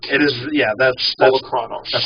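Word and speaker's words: Polukranos: Uh, there's Polarronos. Actually, I learned how that car is actually pronounced. Okay. It's Polar Chronos. Okay, that's that sounds more Greek. It is. Yeah, that's Polocronos.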